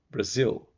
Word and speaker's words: Brazil: muita vogal Brasil ah o apóstrofo aqui marca silaba mais forte vai ser o Zil no final Brasil e a nacionalidade de